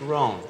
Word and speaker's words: Rohn: It's Rohn. It's R-O-H-N, Jim Rohn.